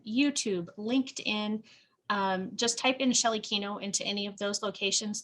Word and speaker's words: Shelley Kenow: on facebook instagram youtube linkedin just type in shelley kino into any of those locations there's a slightly